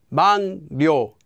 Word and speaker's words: 막료: Anytime the first syllable ends with a 기역 sound, and the second syllable begins with the consonant 릴, the 기역 will become pronounced as an 이응, just like it would with our example of 한국말.